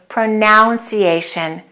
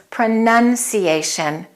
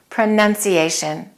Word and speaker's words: pronunciation: say pronunciation it's not pronunciation it's pronunciation the verb is to pronounce the vowel sound is au to pronounce but in the noun form the vowel sound changes and it's just nun nun pronunciation I would like to